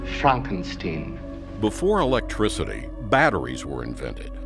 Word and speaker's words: Frankenstein: My name, it's pronounced Frankenstein.